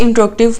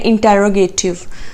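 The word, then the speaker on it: interrogative: Okay जी, next है हमारे पास इंट्रोगेटिव pronoun. सबसे पहले तो इसकी प्रोनाउंसिएशन आप अपने ठीक करें। जनरली इसको बोला जाता है इंटेरोगेटिव, जबकि ये गलत है। इंट्रोगेटिव इज the right word.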